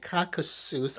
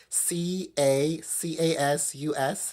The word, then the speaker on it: Caucasus: It came back that I have Irish DNA, Great British DNA, Scandinavia, Northwest Russian DNA, and Caucasus. I think it's pronounced Caucasus, Cacasus.